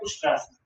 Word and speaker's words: उष्ट्रासन: इसका प्रोनाउंसिएशन है उष्ट्रासन, ठीक है?